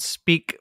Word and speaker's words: Speke: the podcast agency is called speak podcasting and it's it's called uh it's spelled s-p-e-k-e it's named after uh